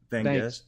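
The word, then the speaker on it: Vangst: Van Guest?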